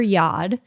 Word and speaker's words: Yod: named himself father yod because yod rhymes with God yes I just realized